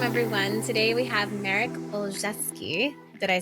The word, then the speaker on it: Olszewski: The way I recommend folks pronounce it is to think of three words, all, ALL, chefs as in cooks, and then ski as in downhill skiing. So I love Olszewski.